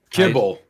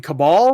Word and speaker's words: Cabal: really quick, Gore, was Kabul. Say again. Kabul. Kabul? Is that how you say it? Kibble. Kibble. No, you mean Cabal?